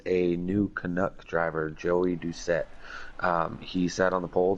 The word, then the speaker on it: Doucette: I can actually pronounce his name, like you said, it is Doucette.